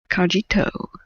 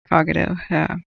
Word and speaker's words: Cogito: He's one of our resident firefighters that comes in the channel here, Iceman, aka Cogito. No, it's Cogito.